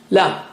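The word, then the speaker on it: ل: fixture emitting lovely light lamb how do you say lamb touch the tip of the tongue to the upper gums near the root of the teeth so if if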